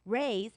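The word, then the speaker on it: Rui's: party a special occasion you will see why raise is spelled rui apostrophe s um Shanghai Bistro is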